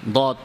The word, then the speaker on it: ض: দদ উচ্চারণের সময় জিহ্বার আগাটা ভাসমান থাকবে, এটা ঠিক না। বরং জিহ্বার আগাটা থাকবে সামনের উপরে দুই দাঁতের গোড়াতে, চাপ দেওয়া ছাড়া। এভাবে দদ উচ্চারণ করতে হবে।